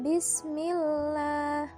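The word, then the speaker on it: بسم الله: Hai Sam tafkim ya untuk lam tarqiq posisi membacanya mulut tidak menjorok ke depan contoh kalimatnya yaitu terakhir bismillah bismillah jadi cara membaca Mila itu enteng banget ya jadi itu yang dinamakan tipis Yaitu tidak ditekankan yaitu yang dibacanya biasa saja bismillah selanjutnya itu yang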